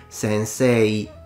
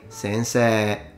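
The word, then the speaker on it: 先生: For instance, the Japanese do spell the word sensei like this, but they usually don't pronounce it sensei. They usually say sensei.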